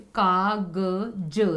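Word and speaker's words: कागज़: अगर मैं इस बिंदी को यहाँ नीचे लगा देती हूँ तो ये इसका उच्चारण देखिए, कागज, ज ज। इसका उच्चारण इस प्रकार का हो जाएगा, ज।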